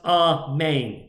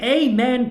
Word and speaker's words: amen: original an actual word according to jewish tradition is pronounced a man in jewish tradition there